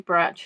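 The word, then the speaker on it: Brač: bra Island brat Island it's spelled BRC but it's actually brat it's which obviously isn't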